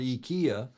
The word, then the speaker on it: IKEA: we in the states we call it Ikea in Europe you call you know I lived in Europe for 20 years and in Europe you would call it EA yeah well it's different pronunciations of the letters but I hate to